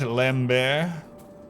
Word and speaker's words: Lambert: it neither am i pronounce it lamb bear lamb bear that's lambert come on uh rosalie